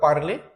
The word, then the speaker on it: parle: a r l e what is pronunciation par I speak par you speak L par L form is also same so it is not